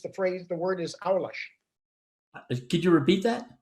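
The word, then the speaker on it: aulas: my class portuguese the phrase the word is our lush did you repeat that it's not even called a-u-l-a-s pronounced versus it's not even close what about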